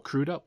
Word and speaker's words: Crudup: to go into there's billy crudup or crudup is how you say it playing dr manhattan now